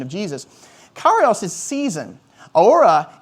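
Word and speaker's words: ὥρα: Ora is the word we use for the cross. And it's where we get our word hour from. In the Greek, it's spelled H-O-R-A.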